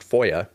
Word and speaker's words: FOIA: Typically referred to by its initials and pronounced FOIA, the Act has a provision legally requiring agencies to respond to FOIA requests within 20 days.